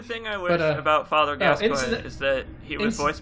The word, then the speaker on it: Gascoigne: I didn't realize that the pronunciation of Gascoigne's name was so... Fuck. Is Gascogne. Oh. No, Gascoigne. Gascoigne.